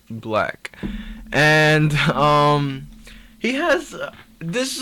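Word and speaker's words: 6LACK: it looks like six lakh but it is pronounced black and he has this is another artist who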